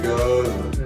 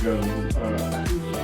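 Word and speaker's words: Gose: Blackberry goza. It's actually a goza. I think Goza, it's pronounced Goza. Goza. Yeah, I pronounced it correctly.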